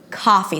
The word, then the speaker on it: coffee: my students is that try to make a pure a as in Father sound if your immediate intention